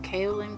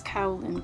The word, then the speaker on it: kaolin: I was saying kaolin clay, and she said it's a Chinese word and that the K-A-O is pronounced like cow in cacao, and the last part is pronounced lin, so it's kaolin clay.